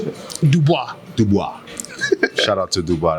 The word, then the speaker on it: Dubois: Um and I remember seeing uh Dubai, how do you say it? Dubois.